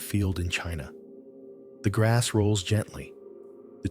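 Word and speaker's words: Qin: Chin is pronounced Chin.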